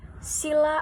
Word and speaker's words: sila: itu berarti lima dan sila itu dengan huruf i di yang dibaca pendek mempunyai arti sendiri dasar